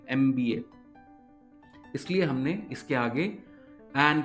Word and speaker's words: MBA: शुरू हो रहा है, लेकिन जब हम इसको प्रोनाउंस करेंगे तो हमें साउंड क्या आएगी, एम की आएगी, एम की आएगी, की आएगी, MBA।